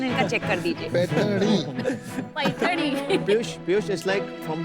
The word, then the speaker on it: पैठणी: क्या डिफरशिएशन है हम आपको प्रैक्टिकली समझाएंगे सर चलो असलोनी पैठणी वो जरा प्रोनाउंसिएशन इनका चेक कर दीजिए पैठणी पियूष पिय it's like from the apical lotus